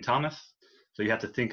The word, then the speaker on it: Thomas: for instance my name thomas has a h in it but i'm not going to put it in there because you don't pronounce the h in thomas so you have to